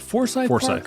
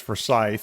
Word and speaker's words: Forsyth: In Georgia it's Forsythe. Oh okay. In Savannah, it's Foresight.